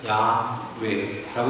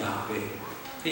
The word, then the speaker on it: 야훼: 그러니까 여호와의 이름이 그게 정확하게 맞는 것 같아도 그거는 정확한 발음이 아니야. 나의 주라고 하는 것에다가 붙인 거야, 아도나이에다. 그 후대의 학자들이 계속 언어학적 연구를 합니다. 그래서 밝혀낸 게 이 네 글자를 어떻게 읽느냐 그럴 때 야훼라고 읽는 야훼. 야훼 하나님이라고 부르는 거예요.